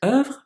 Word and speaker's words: oeuvre: That's how you pronounce it, not oeuvre, but oeuvre.